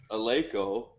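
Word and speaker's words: Eleiko: Well, I mean, if you haven't noticed the way she pronounces Aleko, that's like the technical way, right? That's how the Swedes pronounce it.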